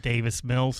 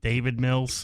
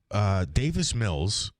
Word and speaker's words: Davis Mills: Yeah, about Davis Mills, and you pronounced him David Mills.